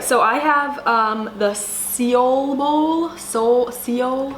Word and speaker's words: Seoul: All right, so I have the Seoul Bowl.